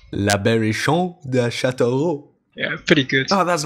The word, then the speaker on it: La Berrichonne de Châteauroux: How is it supposed to be pronounced, Bulle? You say La Berrichonne de Châteauroux. La Berrichonne de Châteauroux.